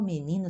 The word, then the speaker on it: menino: carro o menino ó o menino se escreve o mas se pronuncia o e final sempre néu o é u o menino desenha um